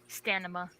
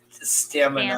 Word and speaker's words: stamina: Stanima. That's like what. That's one of those things that people like mispronunciate all the time as stanima, even though it's stamina.